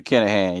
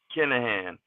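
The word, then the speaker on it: Kinahan: with I've been probably going to say the name wrong is it Callahan Daniel kennahan yep kenahan at this point I realized and I mean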